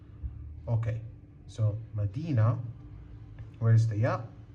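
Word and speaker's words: مدينة: Example, we have So, we have this word is madinah. Madinah. So, m d e n a. Okay. So, madinah Where is the ya?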